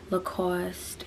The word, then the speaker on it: Lacoste: next item is this look how do you pronounce this again i don't even want to say it wrong it's a lacoste yeah lacoste um sweater and at first i did not